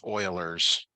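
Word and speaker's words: Euler: amount deposited e is it's pronounced Oilers Oilers constant approximately 2.7128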